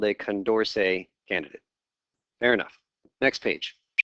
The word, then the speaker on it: Condorcet: So it's actually, I think, pronounced Condorcet. It's a French guy.